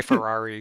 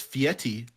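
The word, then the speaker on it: Fieri: do what would guy I always say guy Ferrari because I it's just it's easy I know that's not you know his name is actually like pronounced fiti which is weird because there's no te in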